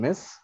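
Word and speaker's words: Ms.: married women yes and miss women's unmarried women and this one m s it is pronounced as Miss any idea males or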